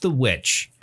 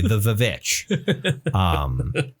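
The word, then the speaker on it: The VVitch: I haven't watched The Witch. I should watch The Witch at some point. The Vivitch? The Vivitch. Yeah. Yes. Sorry, I should pronounce it correctly. The Vivitch.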